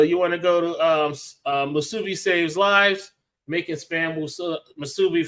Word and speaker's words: musubi: You butchered that word. It's musubi.